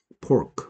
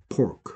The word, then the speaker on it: pork: 그다음에 뭐 이게 한국 사람들이 F하고 P 발음을 잘 구분 안 하는데 이렇게 하면 전혀 다른 뜻이죠. 되죠? Fork 하면은 우리가 먹을 음식 먹을 때 쓰는 포크죠. 포크. Pork, fork, pork, fork. 다르다라는 거.